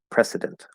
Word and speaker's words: precedent: It's spelled with a C, but that is an S sound, precedent. And that sounds almost like president, which has a Z sound, not an S.